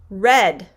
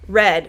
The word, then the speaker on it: red: word is read read i am going to read a book read so this is also the long e sound read now let's take a look at our next word here we have layla's suggestion which is red red now i have down below the word that we're gonna look at is red which is the past tense of read but they're spelled the exact same way so we have today